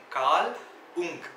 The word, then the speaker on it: Carl Jung: இந்த red book பற்றி உங்களுக்கு டீட்டெயிலாக சொல்லணும்னா, இட் was written buy கால் உங். கால் உங் CARL JUNG. ஸோ J silent போல. ஸோ அந்த மாதிரி ப்ரொனவுன்ஸ் பண்ணுறாங்க.